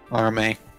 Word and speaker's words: Arme: By the way, her last name's pronounced Arm. It's a pun. Arme.